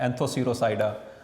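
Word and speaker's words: Anthocerotopsida: इसी तरह इसमें पी साइलेंट है, एंथोसिरोसाइडा, और इसमें हेपेटिकोसाइडा, ठीक है।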